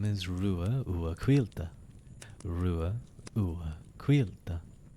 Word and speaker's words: Ruadh: My name is Rua Ua Quilta.